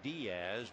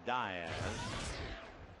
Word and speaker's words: Diaz: You're prone to say Diaz, but he pronounces it Diaz.